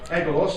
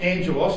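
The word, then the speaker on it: ἄγγελος: God's elect Nation now that word angels of course who know is agelos or Angelos is pronounced in the Greek he shall send his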